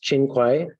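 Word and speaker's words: Qin Hui: But UFA was betrayed by a scheming minister in the imperial court, uh, Chinuay, sometimes pronounced Chin Kaiu, who wanted to cut a deal with the nomad tribes and conspired to have UFA executed.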